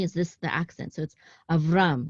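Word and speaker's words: אַבְרָם: this the accident so of rum it's not Avram it's of rum because the cotton is right above this syllable right here this last syllable okay and because this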